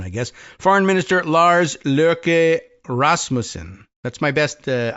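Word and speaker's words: Løkke: my best uh I I was advised that was the pronunciation of L O K E in in Danish lur like with a little like in there. I don't know, probably not a hard R.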